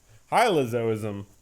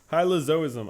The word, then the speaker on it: hylozoism: are you kidding me that is unbelievable pronounce hylozoism okay hm what hm is that a person hylozoism hylozoism I don't need to look that up I